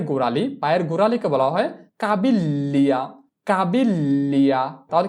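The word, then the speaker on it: caviglia: এরপরে পায়ের গোড়ালি, পায়ের গোড়ালিকে বলা হয় কাবিল্লিয়া, কাবিল্লিয়া, তাহলে কি বসবে জি এল ই, কাবিল্লিয়া। তো এই বানানটা আমরা করার চেষ্টা করি, চি আ কা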